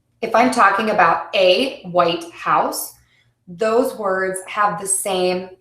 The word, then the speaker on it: White House: the same importance but if I'm talking about where the president lives I would say the White House the White House so my first word is going to be stressed and my second word